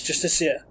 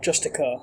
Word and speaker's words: Justiciar: Yes, Justiciar. Not Justicar, as it's spelt there.